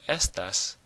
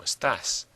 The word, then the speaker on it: estás: However, if we're saying como estás, we don't say como estas, we say como estás. We pronounce it a little bit differently, so when we write it or read it, we've got to have that little check mark over the A that shows that that syllable is breaking the rule.